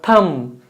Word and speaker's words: thumb: Is it thumb or thumb? See, B is silent.